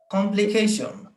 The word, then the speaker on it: complication: আচ্ছা, এটা উচ্চারণ করেন কেউ। কমপ্লিকেশন complication, একজন করে বলি। কমপ্লিকেশন।